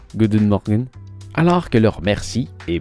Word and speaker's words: goedemorgen: prononcent goût d'une dague good morning se prononcent goût d'une mine alors que leur mercie